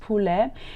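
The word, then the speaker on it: poulet: pigeon and turkey chicken known in french as pule which is spelled p-o-u-l-e-t pronounced pule is the most popular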